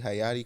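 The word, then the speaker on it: Hayti: head is the the Haiti community. Hayatti community I think is how they actually pronounced it. Um, which is H A Y TI is it was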